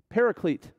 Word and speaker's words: Paraclete: the Spirit of Truth an advocate we a list speakers would probably pronounce the Greek word this way Paraclete and that word is made up of two words in the Greek one of those words being pronounced para as in parallel as in right alongside